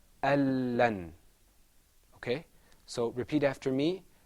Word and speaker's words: ألن: Al-lan. ألن. Al-lan. ألن. Al-lan. ألن. So where did the noon go? The noon, because there's idgham here, we don't pronounce the noon, we go straight into the lam.